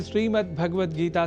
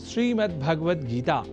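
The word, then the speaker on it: श्रीमद्भगवद्गीता: जैसा कि मैंने उच्चारण किया श्रीमद्भगवत गीता जिसे अनवधानतावश हम श्रीमद्भगवत गीता या श्रीमद् भागवत गीता या भागवत गीता कर जाते हैं जो सर्वथा अशुद्ध है।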